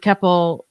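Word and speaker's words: Keppel: did too and yeah when I interviewed Robert keple uh did I say his name right yeah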